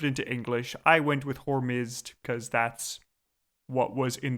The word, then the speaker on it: Hormizd: Also, just because people might notice, I'm going to go with the pronunciation Hormizd, and that's also the spelling that's in the episode.